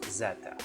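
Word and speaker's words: zeta: from the greek alphabet and the symbol is pronounced zetta whereas in america this letter is pronounced z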